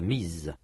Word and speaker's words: mise: Elle l'a mise. Remarquez que dans ce cas, la prononciation est différente. Dans mi, le s n'est pas prononcé. Dans m, il est prononcé comme z. Comme un z.